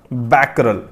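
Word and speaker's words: Becquerel: जो SI unit है वो होती है बैकल ठीक है बी ई स्पेलिंग रहेगी इसकी बीई सी q यूई आर इ ठीक है बैकल इसकी यूनिट रहेगी एसआई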